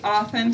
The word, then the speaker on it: often: lesson is often but often is a two-way word how do we say often to spell it off 10 we've got that sneaky silent letter in there off ten say this